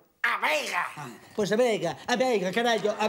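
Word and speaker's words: A Veiga: Que no se dice Vegadeo, dice A Vega.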